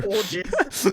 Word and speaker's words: Borges: It's pronounced Borges. Thank you, Brad. That's really helpful. Borges. I don't have a single attack. I pronounce it Borgia.